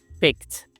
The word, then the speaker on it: picked: Nah ini bacaannya bukan picked, tapi ini bacaannya picked. Jadi tulisan ed di belakang itu kita cuma baca huruf T doang.